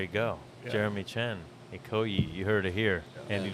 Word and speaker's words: Ikoyi: Ikoyi, Is that how yeah. it's pronounced?